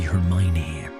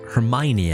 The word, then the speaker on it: Hermione: the Van Orden family, they would pronounce Hermione as Hermione. That would annoy me to no end. Because, you know, I would pronounce it Hermione. And they would always say Hermione.